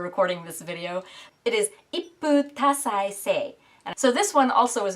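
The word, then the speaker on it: 一夫多妻制: Okay, the second word, I definitely had to look up the pronunciation before recording this video. It is ippu tasai sei.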